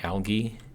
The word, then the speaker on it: algae: algae soy product well i say algae i've heard some people say algae like with a hard g i do it with a you know soft kind of j like g so that's kind of what i do um so we'll take